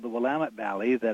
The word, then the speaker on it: Willamette: they are called the Willamette Valley that outsiders tend to pronounce will amend well it's not my